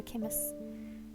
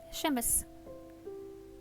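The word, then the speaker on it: chemise: her CH in her kimus chimus kimus I always forget how that's pronounced let's look it up shemus shemus sh so it's a sh sound okay not a c SH shus now ly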